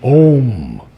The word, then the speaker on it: Om: No, Now, the problem I'm hearing is that as we try to sing the no, it becomes na. And I'm hearing a lot of na. But the om must be pronounced perfectly in order to bring that down through the divine presence. So form your lips in a circle and cover the note.